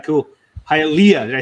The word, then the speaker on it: Hialeah: Hialeah. Did I say it right? Yes, Hialeah.